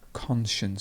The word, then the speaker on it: conscience: not conscience it's conscience conscience so the stress would be at the beginning and then we have the sure sound conscience and this would